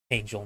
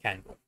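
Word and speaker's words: KAngel: say how about typing it's pronounced Angel not candle thanks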